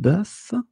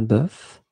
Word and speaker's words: bœuf: And the first one is un bœuf, un cœur. It's actually quite interesting, because even if you write them differently, you pronounce them the same way. Un œil, un œuf, une sœur. Okay, so un bœuf, un cœur, un œil, un œuf, une sœur.